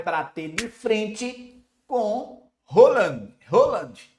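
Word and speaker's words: Haaland: Holand é a pronúncia aqui, tá? De Rand. Halland é brasileirado, mas a gente sabe que a gente trabalha tecnicamente, a gente tem que falar o certo.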